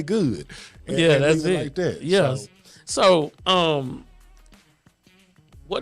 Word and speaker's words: Goud: good tea Kings and I'm gonna have to show people how to pronounce it because they people like good God I'm like just don't try to be fancy with it just say good yeah yeah so um